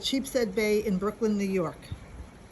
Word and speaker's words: Sheepshead: in a place called Sheepshead Bay in Brooklyn, New York. Wait, say that again? Sheep's Head. It's one word, but it's spelled Sheepshead, like a sheep's head.